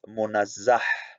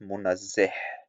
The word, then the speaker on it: munazzah: Number 1, the correct pronunciation of the word transcendent is munazzah and not munazzih.